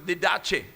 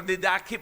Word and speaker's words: Didache: Kung yung iba, they pronounce it didache. Pero didake po yun sa Greek.